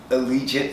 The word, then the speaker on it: Allegiant: i did that you finally said it right allegiant stadium look gorgeous i told you i just